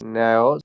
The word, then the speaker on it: Neues: Frohes neues Jahr. শুভ noise নববর্ষ। ইয়ার, noise ইয়ার, ওয় Neues noise. Jahr. হ্যাঁ ওয়, এই যে ইউ আছে না, ইউতে ওয় উচ্চারণ হয়।